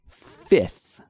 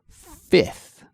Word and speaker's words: fifth: and Cassie even I sometimes struggle with the pronunciation of this word it's just a mouthful so here it is Fifth Fifth first 2 third fourth fifth and so Cassie